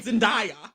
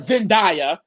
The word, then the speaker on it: Zendaya: say Beyonce like dummies you hear her name Zendaya oh I hate that Zendaya it's literally Zay z-e-n-d-a-y what do you get